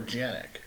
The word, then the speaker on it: Canik: Is it Canik or Janik? In the U.S., it's Canik because C sounds like a C in America.